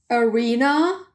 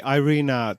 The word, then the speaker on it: Irina: english how is it irina how do you say your name in english uh i've changed to arena like a concert arena because everyone says it differently so i could say irena tundra yes that sounds great